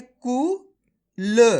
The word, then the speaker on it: कुल: कू ल, तो मिलके बन जाएगा कुल। आया समझ में? आपको ऐसे नहीं पढ़ना कूल। अगर आप कूल पढ़ोगे तो इस प्रकार से बड़ू की मात्रा का उच्चारण हो जाएगा। जबकि अपन छोटू की मात्रा पढ़ रहे हैं तो कम खींच के पढ़ेंगे। कैसे? कुल।